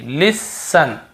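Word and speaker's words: listen: देखिए लिसन लिसन लिसन यहां पर भी टी नहीं पढ़ रहे हैं।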